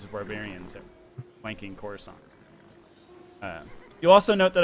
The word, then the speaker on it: Coruscant: The year that I slew 2 hordes of barbarians that were flanking Coruscant. You'll also note that I use the polite, correct term, Coruscant, not Coruscant, which only jerks say it like Coruscant.